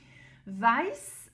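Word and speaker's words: weiß: Schvarscope vice. Vice donc c'est le blanc hein. On a le s après la diftong e i vice hein.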